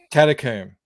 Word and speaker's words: catacomb: has it catacombs exactly it's tomb yeah it's tomb raider catacomb same word same pronunciation uh let's say hello